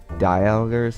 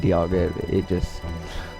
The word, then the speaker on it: Dialga: There was an episode where I said I would pronounce Dialga, Dialgers. I forget what I said, but I'm saying Dialga.